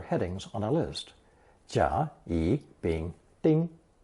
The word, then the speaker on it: 乙: Following jia is a single stroke character pronounced third tone yi and means the second heading, subheading, or item on a list.